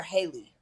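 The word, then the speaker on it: Halle: Okay, so her singing, is it Hallie or Haley? What's the correct Hallie.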